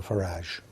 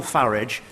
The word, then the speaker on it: Farage: of French fascists Nigel farage and Vladimir Putin I'm glad he takes the uh the English pronunciation of farage rather than the rather pony foreign sounding one that he seems to prefer I think that's a